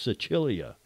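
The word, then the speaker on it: Sicilia: Cecilia the general Cecilia Sicily is pronounced Cecilia in Italian you learn these things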